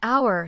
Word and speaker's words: hour: An hour starts with a silent vowel sound.